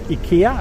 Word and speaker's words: IKEA: like the first urban ikea store in the middle of the city or ikea as we pronounce it in sweden um okay you're happy